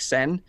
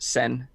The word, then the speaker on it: Tseng: It's spelled Tseng, but I assume it's pronounced Sen. Sensei VR. Eric Seng, yep.